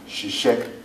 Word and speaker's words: ṣiṣẹ́: That in Yoruba we pronounce as shi. She. Could be a verb to work. She, she, she, re, mi, she. It means in Yoruba a verb to work. Ṣiṣẹ́.